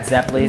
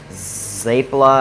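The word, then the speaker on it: zeppole: Have you ever had Zeppelis? Zeppeli, yes. You hear them pronounced a whole bunch of different. I've heard Zeppeli, Zeppeli. I've heard Zapla. I've heard people pronounce. There's a lot of different ways.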